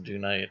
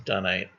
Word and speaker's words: dunite: And I read somewhere that there's British pronunciation is dunite and American pronunciation is dunite.